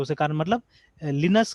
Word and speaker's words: Linux: नहीं बोले, तो देखिए, तो देखिए ये लिनक्स, ठीक है, ये प्रोनाउंसिएशन यहाँ पे बता रहा है कि आपको लिनक्स बोलना है, ठीक है, देखिए यहाँ पे भी लिनक्स बोल रहा है, लाइनक्स नहीं बोल रहा है ये।